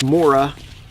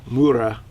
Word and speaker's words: Mora: I have to say, at this point in time, this Mura, or I think it's pronounced more like Mura, Companion is probably my favorite knife.